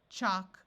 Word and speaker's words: chalk: So we have walk, talk, chalk, and stalk. In all these words, the A has its broad sound of ah, and the L is silent.